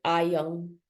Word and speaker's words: iron: la R tampoco, y es muy común que digan iron, ¿no? Estoy hablando del British English, es iron.